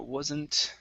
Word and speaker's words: wasn't: is um react uh wasn't so was so instead of washingt okay this is going to be a voiced s sound was wasn't wasn't give me a z wasn't wasn't that